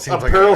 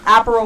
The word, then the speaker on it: Aperol: this move's head I you know done yeah apparel Spritz apparel apparel that's what I meant yeah